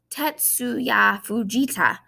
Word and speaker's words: Tetsuya Fujita: what i found a pronunciation guide tetsuya ugita tetsuya fujita it's helping us pronounce this word right here or missouri it's